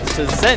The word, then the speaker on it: Cezanne: Cezanne. There you go. That's how it's pronounced.